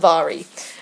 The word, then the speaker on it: Mhairi: And I don't even want to try and attempt to say her name, because I know it's not pronounced how it's spelt.